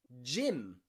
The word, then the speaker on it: gym: some exercise in a gym jim okay the pronunciation of the y changes to i there jim jim but the g as you can hear is a j jim jim jim and gyro